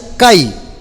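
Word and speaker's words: καί: y su muslo esa en el idioma griego es una conjugación y se pronuncia kay repita conmigo kaim esa y es una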